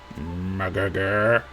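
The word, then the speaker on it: Mrgrgr: It's spelled M-R-G-R-G-R and pronounced murgurgur.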